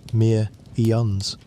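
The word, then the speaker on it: Pthumerians: The name is spelled with a silent beginning and you may simply say it as the mere eons.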